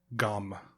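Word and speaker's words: Gomme: name of alice gom it's spelled g-o-m-m-e and i actually looked it up on the youtube thing of how to pronounce it it was gum gum gum like gum begum but but let's talk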